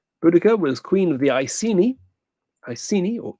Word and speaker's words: Iceni: Boudica was queen of the Iceni or Ikeni. Question 33. Nihon is one of the pronunciations of the Japanese word for Japan.